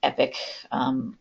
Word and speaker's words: EPC: They have said that it's pronounced EPIC for its acronym.